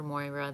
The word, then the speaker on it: Moira: start the process um um moira thank thank moira rose of shit's creek that's how i know how to pronounce it um so interpreting your your experience